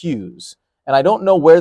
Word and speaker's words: Hughes: And even if you're on the bench, a huge experience for a guy like Luke Hughes, who, by the way, it rhymes with like Jacques Hughes.